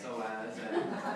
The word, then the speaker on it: psoas: Most people are not because it starts with a P, but it's pronounced psoas, and you can't see it.